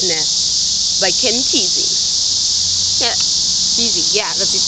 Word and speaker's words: Kesey: Yeah, Kesey, yeah, that's how you say his name.